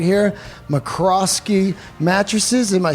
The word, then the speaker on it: McRoskey: handmade episode featuring a incredible company right here McCroskey mattresses am I saying it right you are